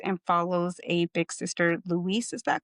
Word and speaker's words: Louise: So, of course, this story is a real life experience and follows a big sister, Louise. Is that correct? Did I pronounce it? Louise.